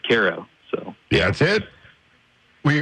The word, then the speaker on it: Cairo: Yeah, a lot of people are questioning me on that, but just about every documentation of that town that exists pronounces the town as Cairo.